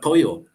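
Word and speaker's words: pollo: the same word but Poyo when you get 1l use you say it as an L but when you get two L's together it sounds as a y polio that's chicken um all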